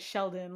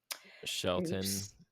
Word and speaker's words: Shelton: Um, I was pronouncing it Sheldon, like with a D, and then I saw that it was spelled with a T. So, Shelton, Shelton, it sounds It sounds weird when you say Shelton.